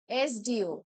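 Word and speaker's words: SDO: এস ডিও, এবার আমরা যখন এস ডিও প্রোনাউন্স করছি, ওটা কিরকম প্রোনাউন্স হচ্ছে? এস ডি ও। তাহলে দেখো ই প্রোনাউন্স হচ্ছে, ভোয়েল প্রোনাউন্স হচ্ছে।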